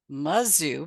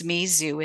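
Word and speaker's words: Mizou: have been playing with is Mizu I was pronouncing it Mazu because I have a granddaughter at mazou and I have a degree from Mazu but it's Mizu it's Mi uh z o UI I believe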